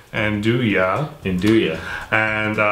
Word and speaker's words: 'Nduja: d ug Wow NZ u J and dooya induye and it's basically a spreadable salami it's got